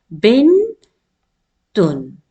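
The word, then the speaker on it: بنت: Now here noon has a sukoon and you will pause with noon. Bin, and the letter ta is in the end and it will be written fully in full form. Bin tun.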